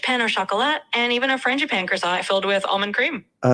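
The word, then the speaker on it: frangipane: flaky croissants, rich peno chocolat, and even a franapan croissant filled with almond cream. Uh, sorry, how do you pronounce that one? The frana. Yeah, no problem. It's pronounced Fran Japan.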